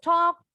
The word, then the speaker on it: talk: When does the talk? Don't forget the L is silent. Jadi L-nya nggak bunyi.